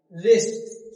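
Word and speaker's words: wrist: साथ डब्लू आर एक साथ आया तो वहां डब्लू क्या होता है? साइलेंट होता है। मतलब लिखना है डब्लू लेकिन बोलना नहीं है।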